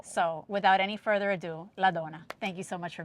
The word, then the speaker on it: Ladonna: Her name is Ladonna. I pronounce it Ladonna because my dad's Sicilian.